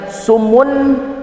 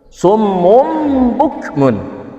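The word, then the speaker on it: صُمٌّ بُكْمٌ: Dibacanya kayak gimana? Summu. Summu bukan sumun. Bukan sumun bukmun. Tapi langsung summum. Summum mum. Summum bukmun.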